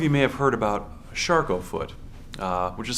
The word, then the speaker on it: Charcot: some of you may have heard about shof foot uh which is spelled CH h a CO o t it